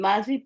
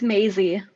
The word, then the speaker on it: Maisie: And Mazi, please correct me if I'm not pronouncing that correctly. It's Maisie.